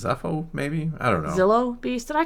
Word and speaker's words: Zillo: I know, but I always mess up calling it the Zillo Beast or the Xylo Beast. I think it's Zillo. I think it's Zillo because someone told me it rhymes with pill, and I call it